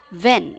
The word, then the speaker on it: Vinh: So let me just pronounce it. If just tell me if I got it correctly. It's Vin.